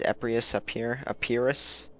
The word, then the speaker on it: Epirus: So, using my little pre-order bonus, the Greek city-states, which were Sparta, Athens, and these guys, Epirus, I guess. Said it wrong the first time.